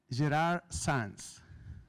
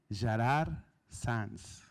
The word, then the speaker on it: Gerard Sans: so my name is Gerard sands and if you try to pronounce it you need to know that I'm from Barcelona and this is Catalan so it's not even Spanish which is more easier